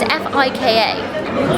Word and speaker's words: fika: First finca in Sweden. I think that's how you say it. Finca. It's F-I-K-A. Fika.